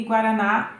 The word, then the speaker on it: guaraná: jiló é o ló e guaraná é o na então aí são é